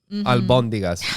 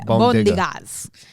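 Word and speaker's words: albóndigas: Albondigas is the right way to say it, but I call it bondigas.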